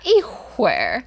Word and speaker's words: 一会儿: Yeah, 一会儿.